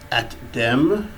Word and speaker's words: ATDIM: And the first one is Atdim, okay?